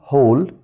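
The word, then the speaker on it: whole: سوب سوب يعني شوربه وكلمه كل يعني هول خلي بالك الدبليو هنا يعني كل نافذه عروض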